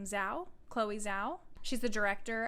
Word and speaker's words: Zhao: But there was some positives from the Oscars, like Chloe, I pronounce her last name Zhao.